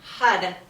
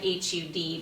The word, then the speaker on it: Har: So for this next practice, we're going to chant HUD, H-A-R, but it sounds like H-U-D because our tongue is touching the roof of our mouth.